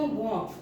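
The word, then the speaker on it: walk: लिखते हैं, वर्ण को लिखते हैं, लेकिन उसका उच्चारण नहीं करते। जैसे मान लो वॉक, ठीक है, सॉरी तो वॉट हो गया, वॉक।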